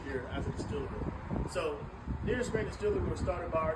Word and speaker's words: Nearest Green: His name is Nearest Green.